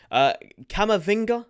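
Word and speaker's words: Camavinga: next ones before anyway cama finger is how you say it this guy isn't an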